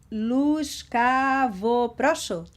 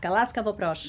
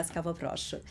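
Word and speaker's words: Ласкаво просимо: Luskavoprosho. Is that correct? Kind of. Almost, but you have a great pronunciation. Laskavoprosho. Laskavoprosho, yeah. Laskavoprosho.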